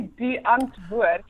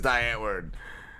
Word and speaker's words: Die Antwoord: talking about but yeah it's actually be unto it I mean I don't expect you guys to be able to pronounce it that way but then I switch to die because everybody says die Antwoord do I answer it